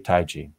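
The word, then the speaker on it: Taigi: It's pronounced, depends, but yeah, Taiji is the typical pronunciation.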